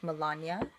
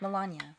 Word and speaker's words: Melania: well as his wife Melania. Melania? That's how you say it? Melania Trump. Melania. I thought it was Melania. It's Melania. Melania? How do you... It's not like N-A. It's N-I-A.